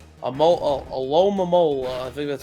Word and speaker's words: Alomomola: Alomomola. I think that's how you say it. Yeah, Alomomola.